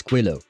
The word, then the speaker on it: Quillo: Willow, but with a QU in the start, but if you can't pronounce it, you can just call me. Willow. Yeah, no, okay, so I have been pronouncing it properly this entire time, right? So it's not actually Kilo, it's Quillo. Okay.